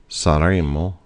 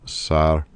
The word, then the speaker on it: saremo: If you're saying it real slow, the third person or first person plural is saremo, saremo. Make sure you do not pronounce 2 M's because that actually makes it the conditional tense if you were to do so.